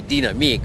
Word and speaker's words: Dynamic: knew it is but you indicated that that was the wrong pronunciation of it well in Europe they say dinam but uh you know